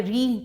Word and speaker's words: ऋ: ये ऋषि वाले ऋ की मात्रा है। तो इसका उच्चारण हमेशा जो शुद्ध उच्चारण होता है वो मूर्धा से किया जाता है। जिससे इसकी आवाज होती है ऋ ए ऐसे बोलेंगे ए